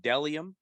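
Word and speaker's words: Bdelliom: mls number 173 597 mother sponsor dellium b-d-e-l-l-i-o-m pronounced dellium dellium is men's and women's minimalistic brand that focuses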